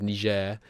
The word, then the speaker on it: Niger: Songhai Niger Trade Company, which is how you say that, by the way, you infants. That is Niger.